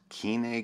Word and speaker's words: Koine: which is actually pronounced Kine Greek because much like pH makes the F sound in English Omicron Iota makes the e sound in Greek Kine Greek but I'm getting